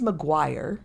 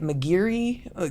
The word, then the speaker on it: Maguire: Um my last name is Maguire and you wouldn't think that that would be but I get Mcgiri.